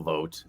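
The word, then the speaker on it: Vought: Uh yeah, but certainly not enough people know the name Russell Vote. Uh you know, V O U G HT, another pronunciation of O U GT.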